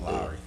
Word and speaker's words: Lowry: Yeah, right, that's how you say it, Lowry. Anyways, he shoved him or whatever, and the headlines were saying like, you know, this is what happened, but they depicted as Kyle Lowry being Lowry.